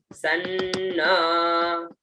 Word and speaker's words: सन्न: स और न आधा, उच्चारण सन्न, ठीक है।